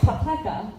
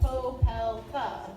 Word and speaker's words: Popelka: Yeah, which is funny because my family, like a lot of people say, they don't pronounce the O, they say Popelka instead of Popelka.